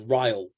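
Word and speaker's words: R'lyeh: of the language um it's like you say but you don't know do you really rally or you know it was whatever he decided it was to be pronounced and so i think there was a certain amount of an arrogant smile at writing it one way and then telling everybody that's not how you pronounce it so he's kind of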